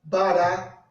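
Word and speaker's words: ברא: Em hebraico se pronuncia Bereshit bara Elohim.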